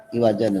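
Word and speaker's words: عِوَجًا: Nah, jangan lupa nih di iwaja itu ada saktah ya. Ada saktah. Jadi dibacanya iwajan qayyima sampai situ.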